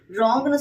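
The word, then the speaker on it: wrong: ராங்ன்னு சொல்லும்போதுமேட sound கே்கறது இல்ல.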